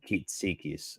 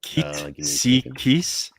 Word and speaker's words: Kitsikis: Yeah, as you say it, as you pronounce it, and then Kitsikis. So that would be Kitsikis.